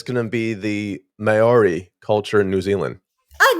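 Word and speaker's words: Māori: this name but it's going to be the mayori culture in New Zealand oh no no no you're right that's how pronounce Mai Mai yeah yeah you're right very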